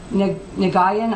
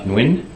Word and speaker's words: Nguyen: September 21st to Neil Nagayan? I can't pronounce that. Copied many people. Is that an accurate copy of that email? I think it's pronounced Nguyen, and I know I